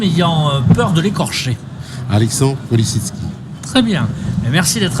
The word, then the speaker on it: Polesitsky: Je n'ose prononcer votre patronyme ayant peur de l'écorcher. Alexandre Polisitsky.